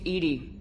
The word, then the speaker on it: EDI: airlock is a jar why are you named Edie Ed is the phonetic pronunciation of e d that is an acronym